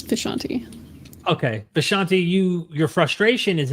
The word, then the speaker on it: Vishanti: I pronounce it the way that they do in the Doctor Strange comics, which is where I took it from, is Vishanti.